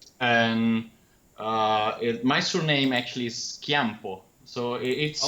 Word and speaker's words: Chiampo: That's fine, but it's because I think Italy is one of the few countries where C and H are pronounced like K.